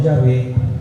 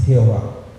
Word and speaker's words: Jehová: No Señor, no Yahvé, no Adonay, es Jehová. Hay un erudito eh bautista francés, eh el nombre es un poco extraño, pero algo así se pronuncia.